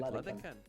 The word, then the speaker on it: Ladehkan: Ladehkan.